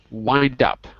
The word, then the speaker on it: wind up: Wind up. Because it looks like wind, but it's wine.